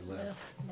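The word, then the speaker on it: LEOFF: So, tell me how to pronounce this. The L E O FF. Say left. Left. Okay. I want to say Lee off.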